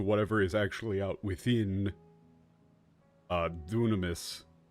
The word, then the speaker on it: Dunamis: Yes, that is the pronunciation that they go with. Dynamis is technically a semi-valid translation slash pronunciation of it, but the term dunamis gets used when referring to Aristotle. Like, and that's the spelling that gets used when this, within, like, translations of Aristotle, which is what they're pulling from.